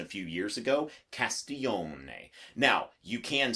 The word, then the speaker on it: Castiglione: to thank mg for giving me that Italian pronunciation a few years ago Castillo may now you can say if you're him it's a written test if it makes you feel better to say Castiglioni then by all means Castiglioni but don't tell